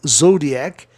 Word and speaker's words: zodiac: IAC no fim soa IAC, maniac, como zodíaco, zodiac.